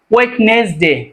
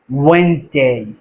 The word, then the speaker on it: Wednesday: টিউসডে, টিউসডে, টিউসডে, আচ্ছা, পরবর্তী letter আমরা কি বলি? ওয়েডনেসডে। আমরা কি বলি? ওয়েডনেসডে। এটা সঠিক উচ্চারণটা কি হবে? ওয়েনসডে।